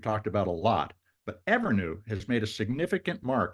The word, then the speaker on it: Evrnu: Stacy Flynn she's the CEO and co-founder of ever that's spelled EBR nuu ever is a textiles Innovation